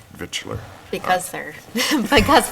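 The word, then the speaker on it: victualler: as common vix but then it's but it's pronounced V vitler because they're because it's difficult to pronounce yet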